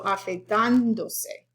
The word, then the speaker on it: afeitándose: So afeitándose. I have to put the stress. Otherwise it would move over to do.